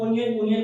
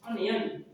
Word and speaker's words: onion: इसको हम लोग ओनियन बोलते आ रहे हैं बचपन से, लेकिन इसका राइट प्रोनाउंसिएशन होगा ऑनियन. नेक्स्ट टीचर्स, इसको हम लोग बोलते हैं ऐसे वेजिटेबल, पर इसका सही होगा प्रोनाउंसिएशन वेजिटेबल.